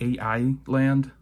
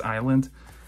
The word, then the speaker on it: island: that's how it's pronounced it's not a.i land it's island um i'll try to